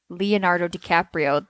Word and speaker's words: Leonardo DiCaprio: I want to say Leonard Leonardo Leonardo DiCaprio that's how you say his name is playing Jim Jones